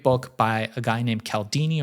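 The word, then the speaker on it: Cialdini: There's another great book by a guy named Calaldini or I think he pronounces it Chelini called influence which I recommend to people.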